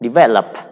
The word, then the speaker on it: develop: So when the stress is on the first syllable or in the middle of the verb, what we can do, just add ed to make past simple.